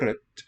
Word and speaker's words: rødt: Rosa og rødt er farger. Rosa og rødt er farger.